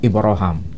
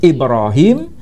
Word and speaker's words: Ibrahim: Nama yang tertulis di mushaf ini adalah nama Ibraham. Apakah ini tokoh yang berbeda? Enggak. Ini tokoh yang sama. Tokoh yang sama. Tapi cara pelafalan diizinkan oleh Nabi dilafalkan dengan cara baca Ibrahim dengan cara baca Ibrahim.